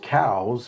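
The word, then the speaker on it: Coues: But then on the contrary, you hear about the what we call the whitetail deer, coos deer, which the proper pronunciation is cows, but nobody calls them cows Right.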